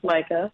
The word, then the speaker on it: Majka: It looks kind of intimidating when you see my last name. It's Majka. It looks like Majka, pronounced Majka.